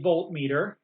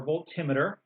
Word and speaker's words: voltmeter: They're going to pass through a voltmeter or a voltimeter. Heard them pronounced both ways.